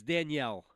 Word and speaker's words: Danielle: It's Danielle.